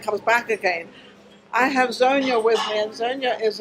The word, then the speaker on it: Zonya: Am I pronouncing your name? Is it Zonya or Zonya? Zonya.